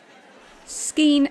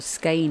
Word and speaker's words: skein: this deep red one skin and the Stitch or skein and the Stitch depending on where you sit on that pronunciation uh it's completely new